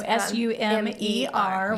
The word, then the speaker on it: Sumer: to mention is that Summer is spelled with one M. I do think that kind of gets confused sometimes. So Sumer, which again is your name. Yes. Okay. Yes. So just the play on Summer.